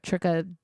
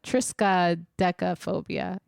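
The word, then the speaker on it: triskaidekaphobia: the most famous people actually had this fear Tria I'm saying it wrong no not Tria it's Trisa Trisa DEA phobia some people who had this was uh included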